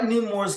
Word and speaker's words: Namor: I like Namor's character not only oh, because wait, we gotta say his name correctly.